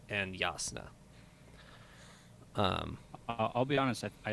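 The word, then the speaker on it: Jasnah: with a Y so it's Yaakov ed and yasna I'll be honest that I like that better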